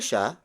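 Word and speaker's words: siya: no means who and then sha sha sha is spelled as s I why a it means he again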